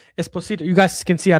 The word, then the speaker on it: Esposito: Pio Espos Esposito. I don't know why I said Esposio. Esposito.